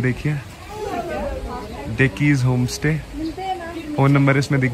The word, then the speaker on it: Dekis: डिकीज, sorry guys मैं pronounce नहीं कर पा रहा था। सो इट्स डिकीज होम स्टे, और मैं अभी वहां का बोर्ड